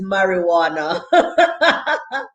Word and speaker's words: marijuana: have at this point only one english word in which the j is silent kevin i'm going to like you and that one word is marijuana kevin shaw you know